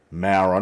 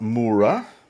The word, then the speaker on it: Mara: at Mara North there Mara not mura Mara is how the the locals pronounce it and then we continue